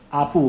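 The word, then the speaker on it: 阿部: 部正弘，阿部哈，哦，就是那个他读音跟现在日本的首相安倍是一样，都是阿倍啊哈，哦。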